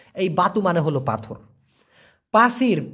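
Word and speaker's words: pasir: যখন দিচ্ছি দেই বাতু বি এ টি ইউ উচ্চারণটা হবে বয় আকার তরস্যু এই বাতু মানে হলো পাথর পাসির পি এস আই আর প আকার ছয় রস্যি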